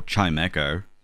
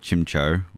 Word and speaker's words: Chimecho: figure out there's a way that people can mispronounce it oh chimecho oh yeah uh i just remember when uh travis openly called chimcho or something like that i remember that yeah